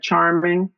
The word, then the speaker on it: Charmeng: is star designs by Charming my name is spelled c h a r m e n g same pronunciation Charming just a e instead of an I um so on Instagram